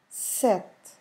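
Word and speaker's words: sete: number seven is set you can see that the last sound that e the last e of the word it's it's really really soft so what we have is almost um we just stop almost in the consonant sound in the T sound pay attention set you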